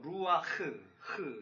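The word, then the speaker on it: רוּחַ: 구약의 언어를 보면 숨과 영은 같은 단어 루아흐 이런 발음인데요.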